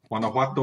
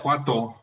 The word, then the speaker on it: Guanajuato: Guanajuato, Mexico. Say it right. It's chowder. Guanajuato.